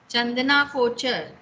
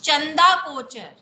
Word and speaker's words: Chanda Kochhar: Yes, anyone else who can pronounce it correctly, pronounce the name correctly? Yes, Vaishnavi. Ma'am चंदना कोचर. Chandana Kochar. Well, it's Chanda Kochar.